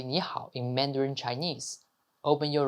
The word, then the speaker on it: 你好: 你 is like ni, 好 is like how, but to pronounce it like a native, making the tone right is the key. 你好 is 你好.